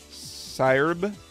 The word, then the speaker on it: Syrb: It's pronounced like siren, but with a hard B instead of a soft N. Syrb?